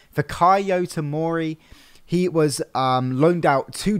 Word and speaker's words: Fikayo Tomori: One good thing that I'm looking forward to is seeing, I think this is how you say his name, Fikayo Tomori.